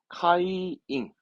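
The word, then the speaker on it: 会員: 흔히들 말하는 회원도 모집할 거 아니 카이잉, 카이잉 또 하나 더 있어요. 그렇지. 회사를 거꾸로 읽으면 사회잖아요. 사회.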